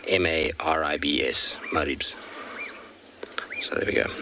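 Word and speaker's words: Maribye: little leopard now because it might not sound like it's spelled so it's m a r i b y e and pronounced m-a-r-i-b-s maribs so there we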